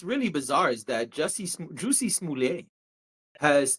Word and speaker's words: Smollett: My heart goes out to the entire Smoulier family.